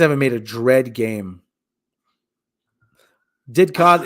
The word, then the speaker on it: Didcot: Didcot is pronounced as it is spelled.